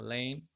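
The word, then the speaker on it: לחם: Kita bisa lihat ada kata yam, artinya hari, kemudian bet, rumah, lem, itu artinya daging ya, sama dengan bahasa Arab, lahem, tetapi huruf ha di tengah kata tersebut tidak diucapkan sehingga dibacanya agak panjang, lem, kemudian au, ini artinya ayah, abun.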